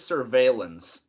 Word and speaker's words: surveillance: and the word and that word is surveillance well you for that word in particular you pronounce the l's which is weird because normally you wouldn't because it's clearly from the french i wonder if that